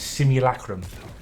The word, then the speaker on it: simulacrum: little potion simulacrum i've seen so many people pronounce that word very oddly it's simulacrum it's not a hard word to pronounce that